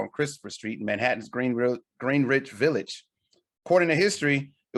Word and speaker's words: Greenwich: Because you said Greenwich. Instead of what? Greenwich. Oh, it's Greenwich. I said it's Greenwich. Spelled the same. Yeah, but it's Greenwich. Greenwich.